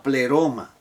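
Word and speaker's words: πλήρωμα: En Cristo habita toda la pleroma. ¿Qué es esto de pleroma? Pléromo, mejor dicho, tiene acento en aquí. Pleroma.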